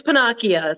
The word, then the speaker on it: Pennacchia: about it i just it's pinakia like pinocchio with different vowels i know yes pinocchio